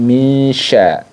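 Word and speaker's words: مِن شَرِّ: di sini menggunakan syin jadi minsya minsya jadi berbeda kan bunyinya karena Nun sukunnya itu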